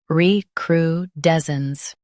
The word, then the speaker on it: recrudescence: recrudescence Both US and UK have the same pronunciation of this word. recrudescence Now read the syllables shown on the screen naturally. re cru des cence recrudescence Emphasize d e s and soften cence.